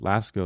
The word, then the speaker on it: Lascaux: Lascaux is how you say it. I don't know how to pronounce this, but I just said the French ones.